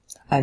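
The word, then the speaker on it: אני: to go to Hebrew and it literally means because the words highlight in blue is key means because at you I that's how you say it in Hebrew an means I the last Hebrew word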